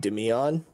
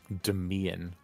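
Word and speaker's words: Damien: on him uh daniel i think it's pronounced dimion demian nice what a classic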